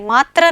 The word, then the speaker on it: मातृ: इसका उच्चारण भी र नहीं है, मात्र नहीं है, मातृ, ठीक है।